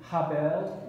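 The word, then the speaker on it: הֶבֶל: You know, it's interesting how names, and it's a Hebrew word, it's actually Habel is the actual Hebrew pronunciation of it, but we the Greek form of it is Abel.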